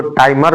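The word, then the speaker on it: Tiemann: तो ये हमारा नेक्स्ट रिएक्शन जिसका नाम है राइमर टाइमन रिएक्शन। इसको टाइमर भी बोलते हैं कोई कोई, लेकिन मैं टाइमन ही बोलता हूँ क्योंकि इसका स्पेलिंग यही होता है।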